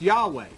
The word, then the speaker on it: Yahweh: through tradition this YH w started to be pronounced Yahweh and that's how the word Yahweh came God